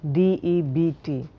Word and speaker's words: debt: For example, a word like debt, D-E-B-T, it's debt.